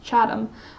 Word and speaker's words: Chatham: worried that he would you don't actually pronounce the age it's around Chatham oh you know what